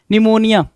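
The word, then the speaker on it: pneumonia: कह रहा है भाई निमोनिया निमोनिया साइकोलॉजी है ना निमोनिया और साइकोलॉजी क्या आएगा तो पी साइलेंट करके देगा वही चीज दिया है भाई आपको पता है निमोनिया है एन ई यू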